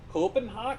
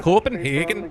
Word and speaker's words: Copenhagen: Copenhog. Copenhagen. You got to say it like that. Copenhagen.